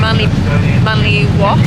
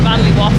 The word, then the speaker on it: Manly Wharf: We've seen Opera House, we're in Manly Wharf. Wharf. And and the sunlight is just so nice. So Manly waft.